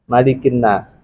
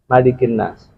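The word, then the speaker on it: ملك الناس: baca surat Annas qulubabbinas malikinas itu kan mesti bacanya pendek malikinas ada yang bacanya malikin seperti baca Maliki yaumiddin Nah kalau Maliki yaumiddin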